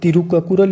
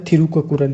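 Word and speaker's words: Tirukkural: यहाँ पर देखो तिरुक्कुरल या थिरुक्कुरल, ये एक ही बात है, क्योंकि इंग्लिश में TH से स्पेलिंग स्टार्ट होती है, तो ये कोई ज़्यादा फर्क नहीं, आप तिरुक्कुरल भी लिख सकते हो, थिरुक्कुरल भी।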